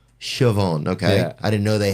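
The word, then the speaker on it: Siobhán: it's very weird man that's nice but it's sioban sioban okay I didn't know they had black people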